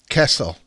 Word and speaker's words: Kessel: I've always been known as Kessel. Kessel. It's how you say it.